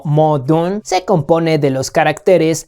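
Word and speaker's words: 矛盾: La palabra en chino, para decir contradicción, que se pronuncia algo así como modun, se compone de los caracteres lanza y escudo.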